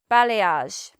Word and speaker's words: balayage: In the English pronunciation we'd say: "balayage".